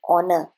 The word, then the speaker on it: honor: House ह, home ह, हेन ह, लेकिन ऑनर एच इज साइलेंट.